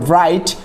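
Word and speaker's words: bright: totally silent অর্থাৎ অনুচ্চারিত তারপর ব্রাইট ব্রাইট মানে হচ্ছে উজ্জ্বল সেখানে হচ্ছে জিএইচ অনুচ্চারিত কট ধরা তারপর ডাউট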